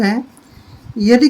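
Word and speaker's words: high: पढ़ेंगे आते मिंस 8 जैसे यह है हा आई जी हा इसको हम सिर्फ ग को छोड़ देंगे हाय पढ़ेंगे हाय हाय होता है ऊंचा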